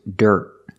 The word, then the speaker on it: dirt: a dead cheap price the word is dirt dirt at a dirt Jeep price the word Dirt has iir followed by a consonant when you see I followed by a consonant it makes the r sound like Burger make a voice here